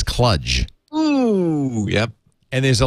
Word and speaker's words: Cluj: except he says instead of cluj he says clutch oh yep and there's